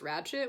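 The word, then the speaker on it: Ratched: her character was nurse ratchet which is why I have it's okay so apparently it's spelled wretched with the D at the end but it doesn't sound like that when like during the film so I put a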